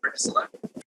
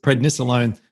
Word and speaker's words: prednisolone: Is that how you say it, prednisolone? Oh, there's prednisone, and then there is prednisolone.